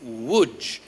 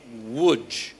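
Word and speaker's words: Łódź: them one Church in a place called wood everybody say wood you spell it l-o-d-z so polish is a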